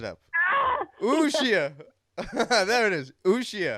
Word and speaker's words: Uxia: Uxia. I think the accent is on the I, so Uxia.